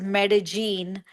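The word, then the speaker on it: Medellín: it's spelled double l i n and it's pronounced as medagene.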